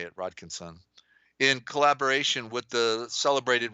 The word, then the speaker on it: Rodkinson: That's how you say it, Rodkinson.